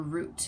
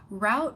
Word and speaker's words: route: good is route or routes you can say it either way route or route however you choose to pronounce it is an important